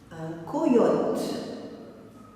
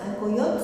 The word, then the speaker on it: coyote: Un coyote, c'est un genre de renard, d'un animal. Un coyote. C-O-Y-O-T-E. Un coyote. Combien de syllabes? Première syllabe co, deuxième yo, troisième te.